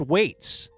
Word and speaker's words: Whites: Please give a big Dumb Zone shout out to our brother Michael Whites, pronounced Waits, for the 50th effing time.